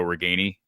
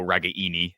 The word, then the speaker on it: Ragaini: concern to you but Nico regani or excuse me Nico ragaini as uh they want us to pronounce his name now he wants us to